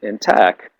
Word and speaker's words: LaTeX: I use a program called a language called LaTeX, and a program LaTeX, and it's spelled in a geeky way. So when you write in tech, so to speak, you